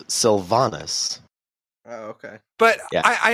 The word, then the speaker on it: Sylvanas: And Those were easy to you got pronounce. Greymane, and it's Sylvanas.